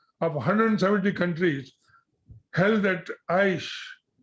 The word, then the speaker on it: Aichi: As back as 2010, International Convention in 2010 of 170 countries held at Aichi, I don't know how it is pronounced, A-I-C-H-E, Aichi, in Japan, Aichi, had resolved to conserve global biodiversity.